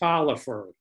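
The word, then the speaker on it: Taliaferro: Pronounced Talaferro. I don't know if that's the way he said it, but I think that's kind of a Southern pronunciation of that name.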